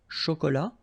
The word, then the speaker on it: chocolat: chaud, remember, CH, chaud, chocolat, and then final T not pronounced, chaud, final D not pronounced, un café glacé, un thé, remember, H is not pronounced.